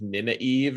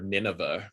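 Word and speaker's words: Nynaeve: like naive like we i think i pronounced it like nina eve or something like that right i think when my mom tried to read it she called her nineveh which is wrong that was false but uh yes that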